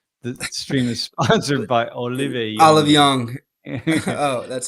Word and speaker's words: Olive Young: The stream is sponsored by Olive Young.